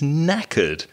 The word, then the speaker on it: knackered: being very tired is knackered now there's a silent k in the word knackered k k-n-a-c-k-e-r-e-d it's a